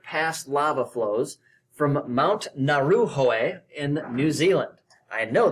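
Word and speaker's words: Ngauruhoe: In 1998, 8 samples were taken from 3 different past lava flows from Mount Naruhoe in New Zealand. I know that is the correct pronunciation because I looked it up.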